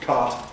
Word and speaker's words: cot: And so we've got on the handout the minimal pair court and cot, both pronounced cart by many Americans.